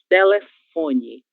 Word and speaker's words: telefone: A leitura correta dessa penúltima palavra é telefone. Telefone. A sílaba mais forte é a sílaba fó, em relação à mesma palavra na língua espanhola.